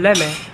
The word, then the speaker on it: let me: So the pronunciation become git and become leme because Southern Americans tend to shorten words and to make it faster to say.